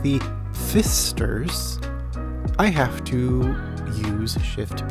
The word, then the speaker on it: Pfister: me laugh more so the Fister family I intentionally chose the name to further the irony that there is a silent P that I have to look out for that will increase the